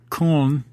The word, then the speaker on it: Köln: He taught at the Köln. Forgive me, I had a German lesson yesterday to pronounce that properly and just failed miserably. But we call it Cologne for the reasons because I can't say Köln, that umlaut thing.